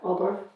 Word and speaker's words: Waldorf: Waldorf. W homeschooling. I don't know why I can't say that word. It doesn't even look, it's like Worcestershire. Say wall. Dorf. Say Waldorf.